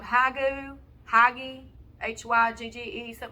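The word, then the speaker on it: hygge: on is it called hagu hagi h-y-g-g-e something like that they say it's hague like the way you pronounce it or something anyway like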